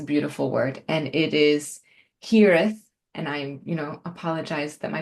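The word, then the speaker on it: hiraeth: think it's a beautiful word, and it is hireth. And apologize that my pronunciation is probably not perfect, but the word is hireth.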